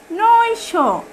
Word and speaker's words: নৈশ: এরপরের শব্দটি হচ্ছে নৈশ, দন্ত ন ঐকার নৈ এবং তালব্য নৈশ, দন্ত ন ঐকার নৈ এবং তালব্য। তাহলে শব্দটি উচ্চারণ হয়ে গেল নৈশ।